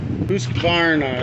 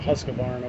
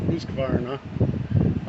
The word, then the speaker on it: Husqvarna: Husqvarna is how it's pronounced. I always call it husqvarna, but husqvarna.